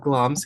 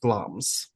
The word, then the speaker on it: Glamis: The site of Glom's Castle, and it is spelled Glamus, but pronounced Gloms. So, if you try to look it up, it's G L A M I S, but it is pronounced Gloms.